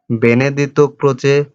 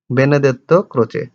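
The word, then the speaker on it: Benedetto Croce: बेनेडितो क्रोचे, कई लोग बोलते हैं बेनेडेत्तो क्रोचे। इंग्लिश में इस वर्ड है बेनेडेत्तो क्रोचे।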